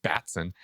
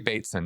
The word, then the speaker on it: Bateson: Well, if we go with Bateson, and I was horribly mispronouncing his name through our entire podcast last week. Oh I no. kept calling him Batson. Okay, Gregory Bateson.